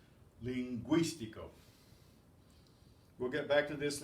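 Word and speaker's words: lingüístico: Those 2 dots tell you pronounced. Linguístico.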